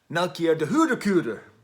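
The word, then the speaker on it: Melchior d'Hondecoeter: I'm going to try to pronounce this as I heard it pronounced in its original Dutch. Melchior de Hoedekuder.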